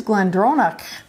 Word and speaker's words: GlenDronach: my gallec since last year because i actually pronounced that correctly it is glendronach i said it better the first time the